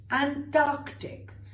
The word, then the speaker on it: Antarctic: Antarctic, Antarctic. Notice I'm saying the C's very clearly.